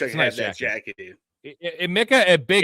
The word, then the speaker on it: Emeka: It's Emeka. Yeah. How do we pronounce it? It's Emeka.